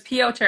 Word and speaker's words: Piotr: And speaking of Piotr, because I always say his name wrong, but I'm so glad you said it because it's Piotr.